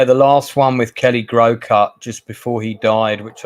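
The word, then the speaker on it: Groucutt: hearing the name wrong the name is Kelly grow cut g r o u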